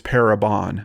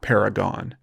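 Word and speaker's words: Parabon: the reporter that's tweeting even says not-it's para bond not paragon so I don't know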